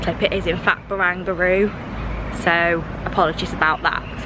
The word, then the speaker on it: Barangaroo: To correct my mispronunciation in the last clip, it is in fact Barangaroo. So apologies about that, because I don't like mispronouncing things if I can avoid it.